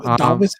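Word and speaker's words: Dāvis: respect on Davis's name. Okay. Davis is pronounced Davis. It's Davis Bertans.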